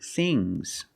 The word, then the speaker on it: things: One thing, two things. So NG plus S, it's a soft G.